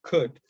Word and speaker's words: could: Now, in number one, the bold word is could. What is the silent consonant? L.